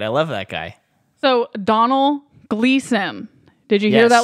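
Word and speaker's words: Domhnall: dumbled it's not Donald that's a name it's pronounced Donald though how do you are you sure I've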